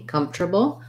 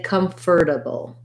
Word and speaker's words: comfortable: the word comfortable um we don't really say come forth four syllables we often will change it to more like come draw syllable three comfortable or we say comfortable so this ore becomes more so we people do say comfortable comfortable this sounds more like a d or i think easier